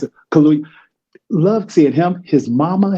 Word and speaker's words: Kaluuya: Daniel Kaluuya, I always mispronounce it. Kaluuya.